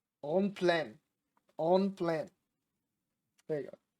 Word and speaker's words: en plein air: En plein air is how it's said. On plan.